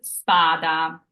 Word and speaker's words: spada: our next example is spada so we have an S here it's not standed by vowels so it's a true s and spada means sword